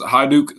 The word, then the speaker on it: Hajduk: I got my man Hajduk. Am I saying it right? Yes, sir. It's pronounced Hajduk, so like high and then Duke.